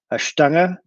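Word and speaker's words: Stange: awful German pronunciation but the glass is called a Ashtanga it's I'm gonna type it in the chat real quick but it's basically like the word strange without an R in it it's German for rod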